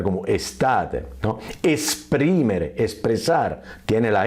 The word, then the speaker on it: estate: Yo paradójicamente tengo estudiantes que están tan asustados que también estate te la pronuncian como state por miedo. No, estate la tiene y se puede pronunciar como estate, ¿no?